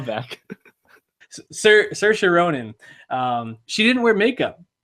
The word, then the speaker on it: Saoirse: She did this in her SNL monologue. It's like inertia. Saoirse. Very easy. Saoirse Ronan. She. That was Leslie Jones. I know. That was a joke. Call back. Saoirse Ronan.